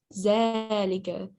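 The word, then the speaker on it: ذٰلِكَ: Zalika is pronounced zalika, but it is written without alif. It is written without alif, but we will pronounce it zalika, like this.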